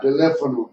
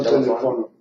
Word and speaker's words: teléfono: How do you say español in Teléfono, no Telefono.